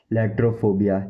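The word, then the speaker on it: iatrophobia: लेट्रोफोबिया लेट्रोफोबिया लेट्रोफोबिया लेट्रोफोबिया लेट्रोफोबिया लेट्रोफोबिया।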